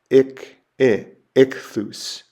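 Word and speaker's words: ἰχθύς: It's the word for fish and it's ikthus.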